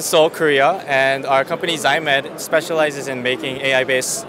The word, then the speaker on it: XAIMED: to a company I am probably going to butcher the name is it zyed yeah Zed okay hi I'm oh I'm je pleasure